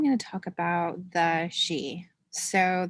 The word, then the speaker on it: Sidhe: to talk about the she so that's spelled s-i-d-h-e so you may have seen the word around and not known how it's pronounced so it's pronounced she and it's an interesting